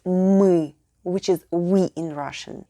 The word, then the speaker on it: мы: We'll need our regular sound m with directly following. Pro tip: you'll want to drag the sound out a little. Now, put the 2 sounds together and we have the perfect мы, which is we in Russian.